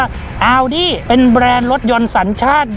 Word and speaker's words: Audi: โวย วาย บอก ว่า ต้อง อ่าน ว่า เอา ดิ เป็น แบรนด์ รถ ยนต์